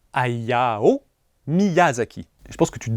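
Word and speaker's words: Hayao Miyazaki: Ayao Mizazki, c'est compliqué à prononcer. Bah, tu viens de le dire faux. Ayao Miyazaki.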